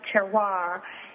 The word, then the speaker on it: terroir: And I think what you're really talking about is something that in the industry they refer to as terroir, and it's pronounced terroir.